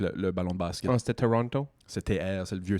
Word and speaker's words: Toronto: La langue anglaise, tu vas bien prononcer où le mot est on dit en anglais stressé où l'accent est dans le mot. L'accent dans Toronto est dans le premier tau Toronto.